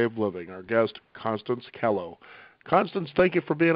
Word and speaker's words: Kellough: about right that's right it rhymes with hello yeah kello okay see i kind